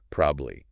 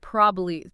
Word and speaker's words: probably: Three clear syllables, which sounds fine. Like grammatically correct. It's correct. Yeah, but again, it's not how most people say it casually. It's usually more like probably. Probably. Two syllables or even like super common.